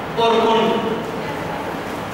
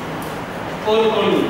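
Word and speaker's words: Urkund: software हैं पहला लिखिए कोरकुन कोरकुन कोरकुन स्पेलिंग यू आर के यू एंड डी यू आर के यू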